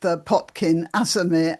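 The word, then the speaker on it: Potkin Azarmehr: some of you might be familiar uh with Potkin Azamir. Am I pronouncing your name properly right?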